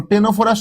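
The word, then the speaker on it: Ctenophora: দেখো, টেনোফোরা শুরু কিন্তু সি দিয়ে, উচ্চারণ কিন্তু টি দিয়ে।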